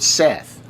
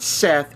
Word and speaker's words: Set: s e t t but it's not Seth it is set there's always been set except for that stupid Tom Cruise mummy movie where they call him Seth because they don't know